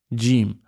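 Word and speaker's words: جيم: Jim. Be careful. Some people say like a a sound, but the pron correct pronunciation is jim. It comes from the middle of the tongue just coming out.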